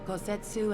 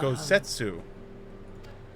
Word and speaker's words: Gosetsu: The time has come for Kosetsu and I to return to our Oh, that's how master, you say his name. to our Gosetsu.